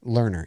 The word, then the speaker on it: Lerner: you say it oh no dave michael lerner learner yeah okay yeah that name rings a bell